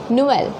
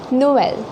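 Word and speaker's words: Noël: Okay, for example, here we can pronounce this word as Noel. Noel, which means Christmas. It means Christmas. We pronounce it as Noel.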